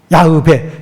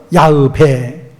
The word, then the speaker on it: 야훼: 여호와는 조금 번역상이 그렇고 야훼를 많이 쓰죠. 야흐베. 정확한 발음은 야흐베.